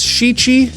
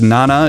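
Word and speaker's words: 七: He also says shichi for 7, which, while correct, is kind of weird because nana is a much more commonly used term.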